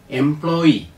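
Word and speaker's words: employee: ഇ എം പി എൽ ഒ Y doubly pronunciation എംപ്ലോയി അടുത്ത വാക്ക് ഇ എം പി എൽ ഒ വൈ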